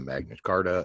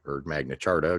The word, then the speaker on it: Magna Carta: of Liberty which is the Magna Carta and the Magna Charta depending on your preferred pronunciation and of course the